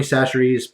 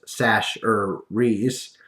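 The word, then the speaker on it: Chachere's: But anyway, I got you some Tony Sacheries, pronounced Sash-er-rees.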